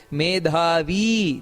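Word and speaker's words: ಮೇಧಾವೀ: ದೀರ್ಘ ಇದೆ ಉಚ್ಚಾರಣೆಯನ್ನ ಮಾಡಬೇಕಾದರೆ ಹಾಗೆ ಮೇಧಾವಿ ದೀರ್ಘ ಇದೆ ಇನ್ನು ವಿಕ್ರಮಕ್ರಮ ವಿಕ್ರಮಕ್ರಮ ಅಲ್ಲಿ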